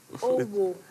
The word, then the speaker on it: Owo: Owo. Like. Well, it's actually pronounced Owo in my local dialect, but it's fine.